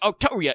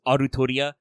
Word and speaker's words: Altria: it in Japanese as Arturia, and the way they write it in English as Altria don't get pronounced the same?